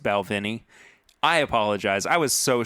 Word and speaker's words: Balvenie: First of all, I said Balwinnie when we were talking about this whiskey last week. It's actually pronounced Balvenie.